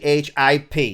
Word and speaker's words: chip: SSD is basically a ship. If you look at it, it just looks like a ship. A ship? CHIP. Oh, CH. I cannot pronounce AH.